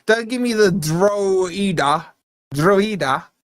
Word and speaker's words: Drogheda: Yeah, Drogheda, right? Don't give me the Drogheda, right? There's a G. You don't want the G pronounced, don't put the G in.